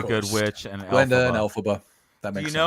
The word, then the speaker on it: Elphaba: It's a brilliantly crazy fact, but the man that wrote The Wizard of Oz is Lloyd Frank Baum. Elphaba. It's his initials pronounced.